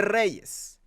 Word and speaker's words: Reyes: to be a representation for Latino people cannot pronounce his freaking last name Reyes Reyes it's just like it's just like Rachel